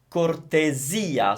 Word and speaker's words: cortesia: Careful with the pronunciation, it's cortesia, so the S sounds Z because it's between vowels as usual, and we're stressing the E, which is kind of unusual, per cortesia.